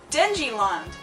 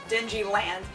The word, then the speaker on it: Denji Land: Uh, one picture showed them a picture of Deniland. Denji Land, excuse me, I'm using their pronunciation.